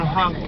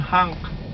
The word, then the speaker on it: honk: Don't honk. Honk. Huh? Don't honk. Don't honk. Honk sounds like a A. No, oh. Don't honk. Don't honk the horn. Don't honk. Honk. Honk. You have to round the O.